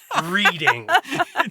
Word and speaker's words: Reading: With all love and all respect and everything to everyone in Pennsylvania who wrote in this correction, it does read like reading.